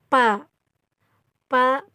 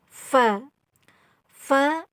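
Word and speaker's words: ف: mengucapkan huruf vagal au Sunda itu biasanya pa-pa pipu padahal itu salah tapi yang benar itu adalah Va Va five-o kep hai babi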